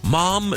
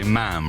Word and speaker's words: ma'am: Actually, I don't like to correct you, but it most people say ma'am rather than mom. Ma'am to rhyme with spam.